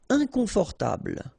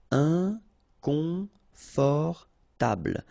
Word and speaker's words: inconfortable: Inconfortable. Okay, don't pronounce final E. Table. Inconfortable.